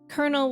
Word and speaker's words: colonel: people not saying that you don't pronounce the L you're not my my teacher a can't actually argue with that Trev true in your language you actually pronounce Colonel with the L's oh and don't pronounce